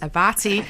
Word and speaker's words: Abbate: politely said aruna Manette her name is pronounced avati I cuz knowing me I would up and said ah abate Mike's a batty that sounds